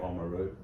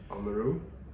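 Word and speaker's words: Oamaru: probably correct yeah well I pronounce it how I would pronounce it um uh which I would say omaru omaru um okay but so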